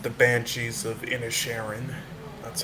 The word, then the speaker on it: Inisherin: film is called, it's pronounced The Banshees of Inisherin. That's how you pronounce it.